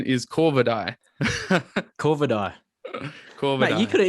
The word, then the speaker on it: Corvidae: The pronunciation is Corvidae.